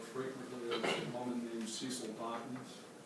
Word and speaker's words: Cecil: is a woman named Cecil Dawkins. It's interesting how many people women in the South had names that sound like they should be masculine. It's not Cecile, it's spelled C-E-C-I-L, Dawkins.